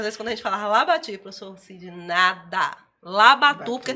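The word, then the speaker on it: Labatut: Ele Não é, era é, Labatu? é Pierre Labati, na verdade. Labati, por causa da Não, eu tô pronúncia falando, francesa.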